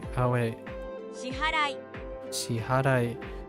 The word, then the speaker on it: 支払い: Shihararai. Oh, wait. 支払い Shiharai. I'm adding an extra syllable in there unintentionally.